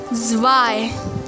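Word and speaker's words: zwei: learn german numbers zero is pronounced as null one in german irons irons irons two in german zye zye zye three in german dry dry dry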